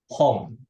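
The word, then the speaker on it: 本: kayak pohon pensil botol kita gunakan home bukan Hong buku ya memang bacanya sama tapi artinya beda kita gunakan home ada yang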